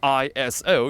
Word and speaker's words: ISO: means equal so technically you're not supposed to break out the word iso you're supposed to pronounce it as iso iso long story short